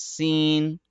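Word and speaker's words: سين: yeah that's it and this one scene no no no not a sound at the end scene no again you're seeing the uh sound don't do that it's seen the scene yeah uh are you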